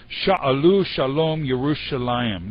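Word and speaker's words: שלום ירושלים: all of these things interestingly in hebrew the way this is is uh pronounced it pray for the peace of jerusalem is shalom yerushalayim this is beautiful hebrew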